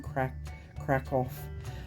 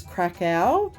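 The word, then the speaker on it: Kraków: I know it says Krakow, and that's not how you pronounce it. It's Krakow is how they pronounce it. I don't say it very well because I was brought up in Australia and not Poland. Krakow.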